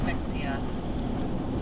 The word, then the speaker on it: Mexia: Spelled M-E-X-I-A. Mexia. We pronounce Mexia.